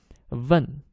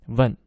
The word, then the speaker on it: 问: But 问 is fourth tone, 问. If you pronounced it by mistake, you say 请问, 问, third tone, means to kiss. If you say 请问, sounds like please kiss.